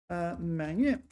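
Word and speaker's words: 埋怨: Yeah, okay, so 埋怨 this is the only time it's pronounced man, or at least it's the only definition in the dictionary with man.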